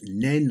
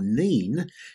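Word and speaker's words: Nene: namely the valley of the river that can be pronounced Nen or Neen, depending where you are.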